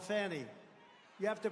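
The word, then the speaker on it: Fani: been destroyed because of fonny f a n i fny you have to pronounce it fonnie it's called Fanny you have to pronounce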